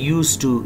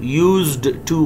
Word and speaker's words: used to: से राय हैं, और यहाँ पे हम डी को नहीं पढ़ते बल्कि लिखते हैं रूल्स में, इनको प्रोनाउंस नहीं करते, हम इसको पढ़ते हैं यूज टू। यूज्ड टू गलत होगा।